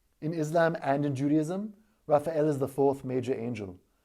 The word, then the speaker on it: San Rafael: Rafael they call it San Rafael this is how you know you're privileged you drop an entire syllable from a saint's name it's Rafael people San Rafael and